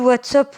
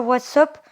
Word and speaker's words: WhatsApp: Ah bah cool, WhatsApp, on vous aime bien, mais moi, je prononce pas ça WhatsApp. Je prononce plutôt comme ça. WhatsApp. Ça se dit comme ça, j'en suis sûre.